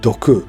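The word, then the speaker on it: 独: Like how France's kanji is Buddha, Germany is represented by a kanji pronounced as doku, meaning alone.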